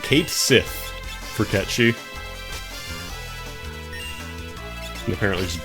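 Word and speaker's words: Cait Sith: official Final Fantasy Twitter account was like it's pronounced Kate Sith for Catchy and apparently just broke people's brains.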